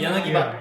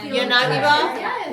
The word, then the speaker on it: Yanagiba: old west, like Yanagi ba.